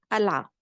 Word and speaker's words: قلعة: In Lebanese we pronounce it as ala because we swap the qaf over here for a glottal stop.